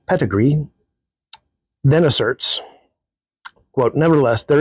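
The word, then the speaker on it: Pettegree: English Protestants to emden pedigree that's his last name it's not spelled like uh what You' think it would be spelled like it's p TT G re e e pedigree then asserts quote nevertheless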